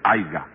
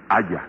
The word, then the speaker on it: haya: Porque lo que yo le estaba diciendo es que no se dice haiga, sino haya.